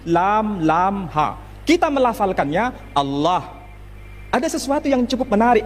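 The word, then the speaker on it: الله: Timur Tengah ketika menjumpai istilah alif lam lam ha dibaca Allah Tetapi mereka serempak menyebutnya dengan pronunciation Allah menyebut dengan sebutan Allah Allah ini tidak dikonstruksi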